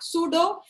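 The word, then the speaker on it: pseudo: सूडो। P यहाँ पे आपका साइलेंट होता है, सूडो noble gas configuration, सूडो noble gas configuration.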